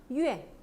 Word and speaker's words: 怨: 어떻게 발음해요? 怨.